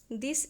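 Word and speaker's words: the: This incident changed द heart of द heart of द evil woman. तो यहां पे दी pronounce करेंगे क्योंकि जब हम आगे पढ़ते हैं पहले तो हम द ही करते हैं।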